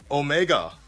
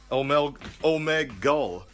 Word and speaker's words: Omegle: some of these topics first and foremost the Omega omegal it's crazy because I didn't want to call